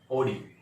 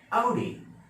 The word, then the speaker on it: Audi: Normally pronounce करते होंगे ओडी, right. बहुत सारे लोग बोलते हैं ओडी कार में आया है, ओडी का, वो ओडी गलत है, ओडी करके नहीं है, इसका सही प्रोनाउंसिएशन Audi, Audi, Audi.